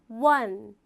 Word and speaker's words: one: 발음해보면 one.